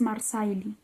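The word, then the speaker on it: Marsaili: Como en Marjor puso el acento en la primera sílaba y la S se convierte en sh. Como pasa como pasa siempre en Gaélico, si va después de una R.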